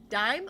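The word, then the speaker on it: Daim: Dame is a caramel hard candy chocolate bar. It's so good. My mouth is watering now. Dime. Oh, you say it's pronounced like dime.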